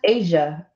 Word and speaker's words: Asia: I fixed it oh it's pronounced Asia and spelt Asia okay all right here